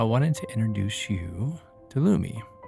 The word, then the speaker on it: Lume: As a special offer for new customers, you get $5 off of a Lumi starter pack.